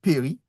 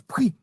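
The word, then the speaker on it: פְּרִי: Mais il dit péri, voilà. Mais, euh, mais on pouvait. Des Hébreux, tu vas entendre des Hébreux qui prononcent prix. Ils vont dire prix. Mais D'accord. pour faciliter la position, on dira péri.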